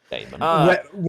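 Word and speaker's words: Daemon: Demon Slayer or Demon Slayer? It is spelt D-A-E. Okay. Yeah. Yeah, it's spelled Damon. Damon.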